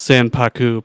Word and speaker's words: sanpaku: tend to have that Yin underneath it's actually pronounced s paku too by the way s paku paku oh